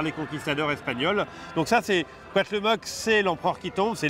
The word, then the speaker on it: Cuauhtémoc: Je vais te laisser prononcer son nom. Ouais. Ça a l'air très compliqué. Alors c'est le Cuauhtémoc.